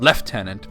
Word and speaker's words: lieutenant: Uh, but the way that Tolken uses it and he surely would have pronounced it left tenant just to to stick it to the French like any proper Englishman would.